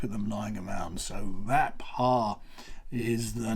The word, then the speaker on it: Rapha: because it's not pronounced rapha it's pronounced rap ha again it's two syllables often run together rap ha so you